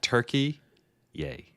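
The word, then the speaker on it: Türkiye: That's the way we pronounce Turkey now, just so you know, cuz it's been a while since we've been here, but they have officially sick of people comparing them to a bird, they have decided to employ the new international pronunciation of Turkey yay.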